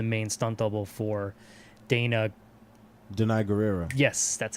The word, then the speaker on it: Danai Gurira: she was the main stunt double for Dana Danai gurira yes that's how you pronounce it yeah I'll call you yep who